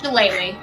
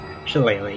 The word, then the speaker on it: shillelagh: Shillelagh. Shillelagh, yeah.